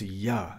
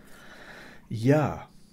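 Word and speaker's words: Jah: and that word is Yah, J-A-H, and I'm pronouncing the J as if it were a Y, because that's how it's pronounced in this particular case. Yah, okay?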